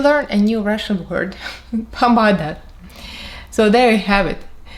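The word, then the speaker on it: помада: The word for lipstick is pomada. Very short and easy actually. So Cyrillic is going to be here and the pronunciation below.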